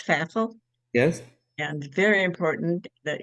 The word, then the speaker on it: Pfaffle: talking with with fifel faf who likes faf remind reminds with rhymes with baffle faff okay because my other